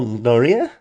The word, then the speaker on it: Noree: interesting guy so without further crappy introduction Daniel noria I'm great thanks thanks for the introduction by the way what's the pronunciation of your name right because I did